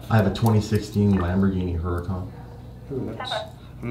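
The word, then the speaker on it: Huracán: I have a 2016 Lamborghini Huracan. I'm not a big car guy, but that sounds expensive. A Lamborghini, what's the model? Huracan, H-U-R-C-A-N. H-U-R? Yeah, C-A-N. Huracan.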